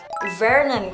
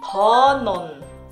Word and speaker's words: Vernon: Vernon, kalau di dalam bahasa Inggris ya, Vernon. Nih, tapi kalau misalkan kamu mau ngomong yang ala Korea, bacanya Honon. Honon. Jadi terserah kalian sih, kalau misalkan mau pakai lafal Inggris juga boleh. Kalau misalkan pakai lafal Korea juga boleh.